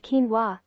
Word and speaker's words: quinoa: in the amaranth family not a true cereal pronounced quinoa it has roots in the peruvian andes going